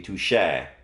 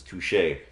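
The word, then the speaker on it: touché: an ass sound so it's going to be touche and that's not how the the word is spelled is pronounced it's touche after a delicious breakfast you're ready to start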